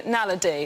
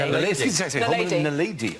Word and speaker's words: naledi: The Homo naledi, or naledi. Nadali. Homo nadali. Yeah. Nadali. Homo naledi.